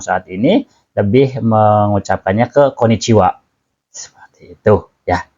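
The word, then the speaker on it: こんにちは: ini lebih mengucapkannya ke koniciwa seperti itu ya jadi asal usulnya eh partikel wa partikel H itu dibacanya wa ya seperti itu ha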